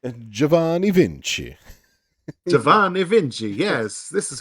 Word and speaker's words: Giovanni Vinci: Giovanni Vinci.